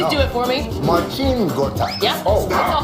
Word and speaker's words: Marcin Gortat: Marcin Gortat.